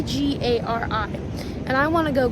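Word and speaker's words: K'gari: so it's spelled k g a r i and I want to go kagar but it's gari they almost like they almost just forget about the K they go kagari gari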